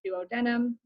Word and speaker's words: duodenum: that first section um by the way duodenum also sometimes pronounced duodenum both you can pronounce whatever you want um the small intestine